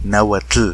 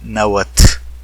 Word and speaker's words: náhuatl: que van a hacerlo deberán pronunciarlo así náhuatl el náhuatl como lo estoy haciendo yo y no como lo están haciendo los miles de nagua tractos naturales que dicen náhuatl es una opinión muy